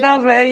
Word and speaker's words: Narodowy: Is it Stadion Narodowy? Is that how you pronounce it? Narodowy, yeah.